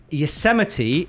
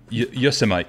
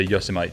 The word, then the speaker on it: Yosemite: And he's saying, anyone else pronounce Yosemite like Vegemite? Lol. Did you get the same one? No, but I get that. Go on then, pronounce it like Vegemite. Yosemite.